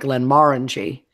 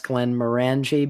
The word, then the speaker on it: Glenmorangie: then there things like Glenmorangie yeah we might pronounce Glenmorangie because of how we tend to put the emphasis on this level's mm-hmm and it's no no it's going Margie okay that's easier than